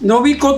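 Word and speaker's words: 伸子: About a week "So this is how it's supported" This, you write it as Nobiko but pronounced as Shinshi the name of this tool "This is how it has always been?"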